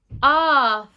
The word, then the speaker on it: after: Sometimes this grapheme can make an R sound.